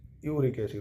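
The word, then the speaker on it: erucic acid: Spelling अगर लिखें तो ERUIC, यूरिक एसिड होता है, ठीक है, यूरिक एसिड।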